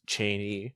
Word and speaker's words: Cheney: Matt Cheney, who corrected me on how to pronounce his name, it's Cheney.